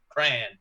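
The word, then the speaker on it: Krahn: the top ten uh brent cran uh but not spelled like the fun crayola crayon just k-r-a-h-n cran um played a whopping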